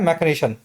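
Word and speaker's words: machination: मैकेनिशन की स्पेलिंग देख लेना, मशीन जैसी स्पेलिंग है, बोला जाता है मैकेनिशन।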